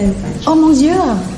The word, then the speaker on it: Oh mon Dieu: Oh mon Dieu. Oh mon Dieu.